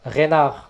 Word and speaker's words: Reinhardt: In France, the name Reinhardt sometimes is pronounced Renard.